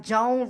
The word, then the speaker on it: Joan: I said her name was Joanne. Okay, it's Joan, like Joan Rivers.